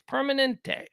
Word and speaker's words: Permanente: just did it Permanente it's Permanente like permanent like Kaiser permanent Kaiser Permanente workers tens